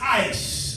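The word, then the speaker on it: εἰς: From the Greek, the word says, is pronounced ice, amazingly.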